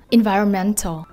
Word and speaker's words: environmental: Thứ nhất là chúng ta có câu số 1, environmental. Trọng âm chính sẽ rơi vào âm tiết số mấy đây các em ạ? Rồi, âm tiết số 4 nhá.